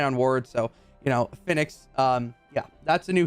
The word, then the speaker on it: Fennix: I'm talking about uh I might pronounce this wrong because apparently it's like a phoenix Phoenix there we go Phoenix